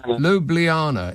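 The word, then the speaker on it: Ljubljana: Lub l how do you say it lubljana in Slovenia?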